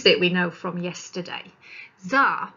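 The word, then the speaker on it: Xar: Czar, pronounced Czar, I don't know why, spelling is weird, was a wild young human boy who belonged to the wizard tribe.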